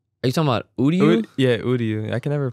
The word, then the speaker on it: Uryu: I don't know who was in the hoodie, but I thought that looked like Yuri, right? Yuri? Or what am I calling it? Ryu's son. Right? Are you talking about Uryu?